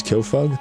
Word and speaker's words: Kyofug: To restate, my name's Killfug. That's spelled K Y O.